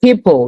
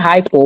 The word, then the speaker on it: hippo: Hippo. You should be able to say hippo, right? It's not hypo.